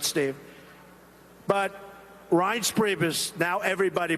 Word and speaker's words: Reince: They called him Rance. Steve Wynn just called him. He's still not pronouncing it right, Steve. But Reince Priebus, now everybody pronounces his name right.